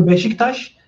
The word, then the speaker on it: Beşiktaş: You need to read it like chi, and on the Beşiktaş you need to read that word as she.